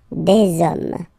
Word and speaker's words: hommes: that you just put the S at the end, you don't pronounce it, so you get des hommes, des hommes, des hommes, okay?